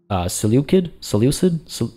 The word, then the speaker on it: Seleucid: were given to the Seleucid? Is it a hard C?